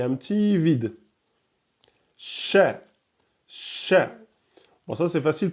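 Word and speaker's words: ش: Vous ne dites pas chat. Ok, donc c'est sha.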